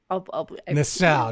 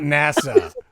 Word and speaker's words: Nassau: And it was Nassau, is what I was thinking. Oh, Nassau? Bahamas? Nassau. Okay. Nassau, not NASA.